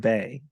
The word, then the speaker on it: Bé: Mèo and Bay. How did I do with the You pronunciation?